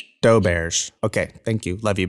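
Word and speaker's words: Doberge: then there's doberg's cake wait doe bird hold on yeah is it doe birch or how do you say it doe bears okay thank you love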